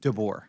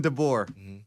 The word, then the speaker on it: DeBoer: And DeBoer. the door rhymes with.